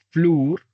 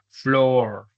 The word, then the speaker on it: floor: Pero no se dice flur, se nos dice floor, también, como la larga o.